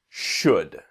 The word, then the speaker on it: should: The second thing is in the pronunciation the L is silent. the pronunciation not should or should but should.